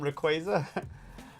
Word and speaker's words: Rayquaza: The Oxy movie the other day, and he was traumatized that he called him Rayquaza. Rayquaza. Yeah, they had that sign at Worlds that said it's pronounced Rayquaza.